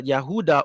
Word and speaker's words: Yehuda: like the descendants of the yehuda or judah oruda which is the true pronunciation of Judah.